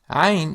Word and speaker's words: عين: Ain is one of the most common letters in Arabic and one of the most notoriously difficult sounds for Western learners to pronounce. One piece of advice for people trying to make the Ain sound is to sing the lowest possible note, then one lower.